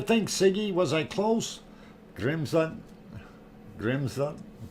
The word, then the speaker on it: Grímsvötn: pronounce it, and I was listening to the pronunciations here from Grimsvatn. Grimsvatn is what it is, according to what they're saying on this one. Grímsvötn.